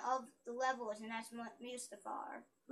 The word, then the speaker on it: Mustafar: the levels, and that's Mustafar. It's called Mustafar. It's called Mustafar, Sean. Now, Christian, look. It's called Mustafar, Sean. It really is, because... First of all, they say it like that in the movie.